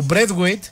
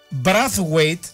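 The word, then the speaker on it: Braithwaite: Ο Μπρέθουαιτ γράφεται το όνομά του με BRAI, έτσι έχει καθιερωθεί. Μάρτιν Μπρέθουαιτ, και διαβάζεται έτσι. Όπως γράφει ο Νίκος Μπουζιονέλος, ο συνάδελφος που το έχει ψάξει, στα δανέζικα, επειδή ο πατέρας του ήταν Άγγλος και η μάνα του Δανέζα, τον προφέραν Μπράθουαιτ. Το σωστό, λέει, είναι ότι κανονικά το όνομά του είναι Μπράθουαιτ, δεν υπήρχε το I.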